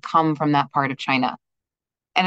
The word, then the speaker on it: qin: from that part of China and it's called the chin player because this woman is playing a chin so q i n but pronounced with a CH sound uh we're going to